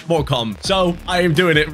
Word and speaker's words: Morecambe: I actually looked it up, and yes, it's pronounced Morecambe.